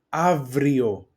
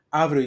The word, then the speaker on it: Αύριο: Αύριο, here I am in the second row, that av and ev they pronounce as av, ev. Αύριο is tomorrow, Ευρώπη is Europe, Παρασκευή is Friday, δουλεύω is to work.